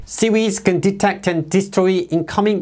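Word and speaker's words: CIWS: 그리고 미해군의 근접방어 무기 시스템인 Close in weapon system 약 CWS인데 붙여서 CWES라고 발음합니다. SEES can detect and destroy incoming missiles and enemy aircraft that penetrated the defenses.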